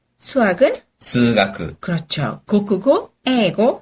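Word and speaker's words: 数学: 자 그럼 일단 과목을 알아야 대답을 하니까 과목의 발음을 배워 보겠습니다 자 일단 구경수 기본이기 때문에 국어 어떻게 되죠 고고 영어는 에고 수학은 수가 그렇죠 고고 에고 스가 기억해 주시고요 과학으로 넘어가죠 자 물리는 어떻게 될까요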